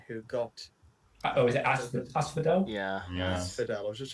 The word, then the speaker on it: asphodel: Well done to Hazel and Stephen, who got Oh, is it asphodel? Yeah. Asphodel. I was just checking the pronunciation.